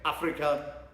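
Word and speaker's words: Afrika: Africa with the German pronunciation.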